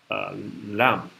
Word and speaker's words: lamb: is the other side you do not pronounce at the end of the word lamb what is lam what is lam you're